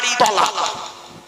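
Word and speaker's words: طلاق: যত বেশি চালাক ওই মেয়ের কপালে তত তাড়াতাড়ি তলাক বাস্তব বললাম তালাক নয় তলাক কি বললাম তলাক শব্দটা তালাক নয়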